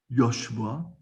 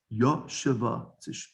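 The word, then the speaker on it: יֹשָׁבָה: It's not yoshva, it's yoshava. Because if it's under the yud of yashava is a kamatz. Kamatz is tuna gdola. Therefore, it's the syllable. It stands by itself, and then the shva is a shvana.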